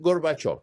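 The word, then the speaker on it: Gorbachev: Ahora, de of of, ahora pronuncia of con el acento y dilos juntos, Gorbachov. Lo tienes, señor vicepresidente. Es Gorbachov.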